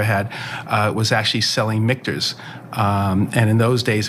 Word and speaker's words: Michter's: kind of where and I'm actually glad that you say mters because I I I hear so many people butchered all the time probably like your last name right and they say like they say like MERS or mners or something like that right so